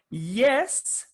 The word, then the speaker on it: yes: time here in colombia listening to jess jess which is incorrect it's yes jess so i would